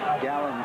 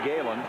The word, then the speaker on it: Galen: Gallen Allen made the stop. It's Gayen Allen. Really, they spell it G- A L L N but it's Galen.